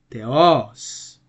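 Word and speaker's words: Θεός: the New Testament Greek we have two syllables here and we only have an acute accent over the omic one so it's going to be Theos that means God can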